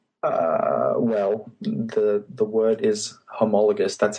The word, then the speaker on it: homologous: Well, the word is homologous. That's how I pronounce it.